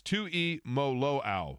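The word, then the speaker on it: Tuimoloau: He said it's Tui Maloau.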